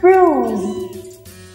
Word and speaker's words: bruise: từ vựng này nhá bruise bruise rồi đọc lại cho cô nghe nào fru rồi lưu ý cho cô là từ vật này kết thúc bằng âm d d các bạn có tưởng